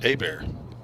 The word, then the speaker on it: Hebert: The Cajun pronunciation of Hebert is Hebert.